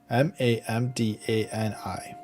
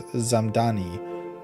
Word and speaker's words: Mamdani: M A M D an I. Zoran Mdani, New York City mayoral candidate, clapped back after the White House mispronounced his name as Zamani in a viral Tik Tok set to Hollowback girl.